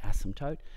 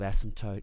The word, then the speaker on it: asymptote: we call that an asymptote and note that the spelling of asymptote has a silent P okay now we can